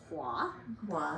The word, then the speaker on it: Hoa: Oh, so I pronounce my name Hua.